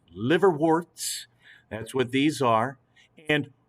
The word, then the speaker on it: liverworts: other types as well liverworts not live or worst liver warts liver warts that's what these are